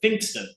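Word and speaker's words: Pfingsten: holiday called finston but it's spelled weird it's like p f i n g whatever German spell but you pronounce it finston so Bernzie being the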